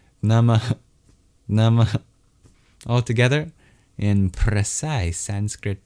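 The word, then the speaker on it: namaḥ: It's a little exhale at the end. Nama al together in precise Sanskrit pronunciation.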